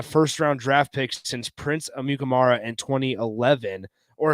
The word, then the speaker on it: Amukamara: draft pick since Prince Amukamara in 2011, or if you ask Prince himself, he pronounces it Amukamara, is how he pronounces his last name.